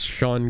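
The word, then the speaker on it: Sean: The other guy seen gun as Shaun Gun. No, as Maxwell Lord. Jesus. His name is Sha Gun. It's pronounced Shaun.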